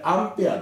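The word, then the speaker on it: アンペア: A と書いて、これアンペアです。そして小文字の M、大文字の A、これはミリアンペアと言います。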